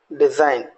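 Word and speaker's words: design: अब देखिएगा कॉलोन, जी को हम साइलेंट छोड़ दें, colon. Genome, right. डिजाइन, रिजाइन, foreigner, align, एसाइन।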